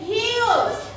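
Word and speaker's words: huge: double উচ্চারণ হবে উচ্চারণ ধনিটা কি হবে একটু বেশি হবে যেমন কি কিউ কি কিউ এখানে হিউজ হিউজ এইচ ইউ হিউজ কেন হইছে এখানে দুইটা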